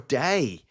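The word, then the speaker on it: daj: like that now obviously a j is pronounced like a y so technically that I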